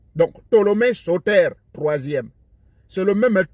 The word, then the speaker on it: Ptolémée: Ptolémée s'écrit avec P, mais on ne prononce pas le P. Donc, Ptolémée Sauter, troisième.